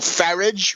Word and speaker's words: Farage: Nigel Farage rhymes with garbage, and pretty boy blonde Boris Johnson, Thatcher's favorite journalist, and Lord Conrad Black's #1 puppet.